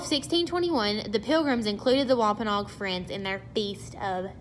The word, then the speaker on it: Wampanoag: Squanto and Samoset also helped the Pilgrims make a peace with I never pronounce this right, I always butcher it, Wampanoag. It's Wampanoag.